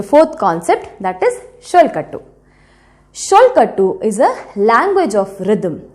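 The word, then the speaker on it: solkattu: group of rhythmic syllables so you can also say sholkatu as chol khattu sholkatu or sollu kattu but the meaning is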